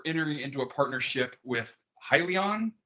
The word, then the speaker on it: Hyliion: into a partnership with hylion and I guess I think that's the way it's pronounced yep to join forces and